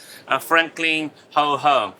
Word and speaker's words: Franklin WH: So our name's pronounced as Franklin Ho Home.